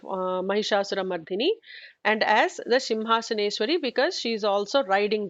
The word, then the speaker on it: Simhasaneshwari: I hear some people say Singhasaneshwari or some other variations of it. But the actual namam that is given as per Brahmanda Puranam by Hayagriva to Agastya is Simhasaneshwari, and it is important to pronounce it like that.